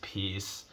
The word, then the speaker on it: Piers: Your name is P-I-E-R-S, Pierce.